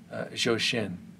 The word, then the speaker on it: Zhou Shen: i believe if research serves me correctly you pronounce his name shoshen so i'm going to be reacting to his